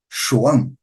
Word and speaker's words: João: Não vão falar João, mas também não vão falar Juan. Então, os galegos falam o quê? João.